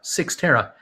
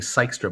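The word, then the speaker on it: Cyxtera: is spelled c-y-x-t-e-r-a very they tell me that you you say it just use the word six and tara six tara uh i keep saying sykester but it's six tara uh cy xt is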